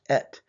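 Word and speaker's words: את: So in the beginning, and the Aleph Tav, you can pronounce it as et.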